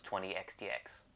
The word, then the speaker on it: 20XX: this is a family cast video review for 20 xdx done in 10 dos which my name is and I reviewed this game and yes that's how you pronounce 20 X DX take your complaints up with battery staple games